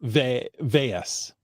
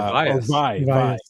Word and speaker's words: Valles: Valles should be pronounced Vayas, right? Or Vias. Vi rhymes with Psi. Vias. Vias Caldera. Vaya Cardera. A double L is pronounced as a Y.